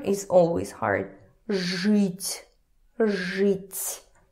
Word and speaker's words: жить: For example, žít, to live, žít. Even if we see this E here, ž won't budge. Ž is always hard. Žít, žít.